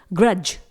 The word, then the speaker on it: grudge: Next example, ग्रज, spelling है GRUDGE। यहां पर भी D red colour letter silent है।